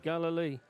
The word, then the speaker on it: Galilee: How do you pronounce Galilee. Galilee.